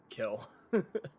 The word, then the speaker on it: Kil: his name is kill I thought you're just mispronouncing quill no his name is kill it is k i l kill uh family name you